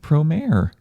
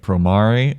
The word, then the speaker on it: Promare: was very enjoyable and now we're here with pro mayor which we will up because we've been pronouncing it promari for the longest time and it's just ingrained